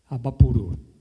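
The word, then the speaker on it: Abaporu: Qual é a pronúncia correta da obra principal dela, a mais conhecida? É Abaporo ou Abapuru? Abapuru.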